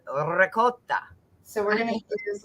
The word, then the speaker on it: ricotta: So yeah, because that Italian guy, I asked him how to say it correctly, because I knew that traditionally the American way is ricotta. And that's not how you're supposed to say it. It's ricotta.